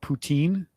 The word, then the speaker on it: poutine: pronounce it the same we call it poutine but it is Putin like Vladimir Putin no it's different yeah but yeah so